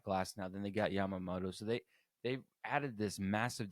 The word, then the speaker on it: Yamamoto: I always feel like I'm gonna mispronounce his name, but it is Yamamoto.